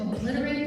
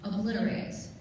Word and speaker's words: obliterate: Scientists warned that the active volcano threatens to obliterate the nearby town. Obliterate. Yes. Some people say obliterate, others say obliterate. Those are the two pronunciations.